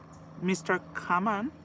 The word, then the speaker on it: Common: So we are talking about Jennifer Hudson and her newfound love, Mr. Kaman. That's how we pronounce it in Jamaica.